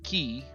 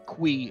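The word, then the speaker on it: Qi: You've got the mysterious Mr. Key, or Quee, I believe, is actually how Eric Barone pronounces it, who is a awesome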